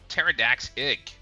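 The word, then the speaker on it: Pterrordax: Pterodact. Okay. Yeah, the P is silent. Pterodax.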